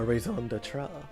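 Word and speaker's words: raison d'être: How do you pronounce this? Reason for being. I see. That's a raison d'etre.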